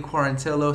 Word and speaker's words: Quarantillo: Channing Wahlberg himself and of course AMA Billy Clarence hello set to make his UFC debut here soon